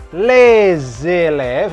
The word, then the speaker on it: les élèves: Les élèves, ini dibacanya disambung. Seperti les alphabets di Z kan ya.